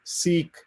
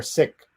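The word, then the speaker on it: Sikh: sometimes get wrong we the pronunciation of the word s.i cage some of us uh go out of our way to say seek so that an american ear doesn't hear sick and uh i've been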